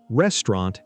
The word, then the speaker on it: restaurant: My three favorite words today are Wednesday, restaurant, and salmon. Great choices. Wednesday becomes Wednesday. The first D is silent. Restaurant becomes restaurant. The middle sound gets shorter.